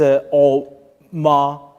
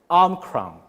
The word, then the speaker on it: Omicron: pronounce this word, and according to Merriam-Webster, is Omicron. Omicron. With an In the R. United States, you can prove me or you can disprove me on bear me on this one. In the United States, it's often pronounced Omicron.